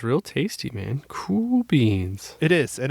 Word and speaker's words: Cool Beans: Cool beans. It is, and it's spelled the cool way, not COOL. It's spelled KUHL.